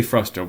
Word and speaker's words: frustum: But now we're going to talk about the area of what's called a frustum. That's F-R-U-S-T-U-M, pronounced frustum, also sometimes known as a band.